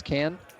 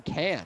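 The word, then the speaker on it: Cairns: I went to was Cannes which it doesn't look if you look the way it's spelled you're like why are you saying canned it's like c-a-i-r-n-s um David here going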